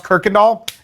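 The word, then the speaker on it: Kuykendahl: It that's Kendall or Kikond doll. But that's Houston. That's Houston. If you don't know how to pronounce Kirkandall, you're not from Houston.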